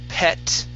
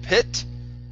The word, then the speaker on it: pet: Let's go to the word, pet right here instead of, now give me a good P sound and also short E instead of pit. All right, it's pet.